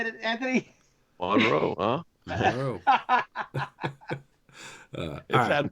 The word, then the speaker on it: Monroe: Monroe.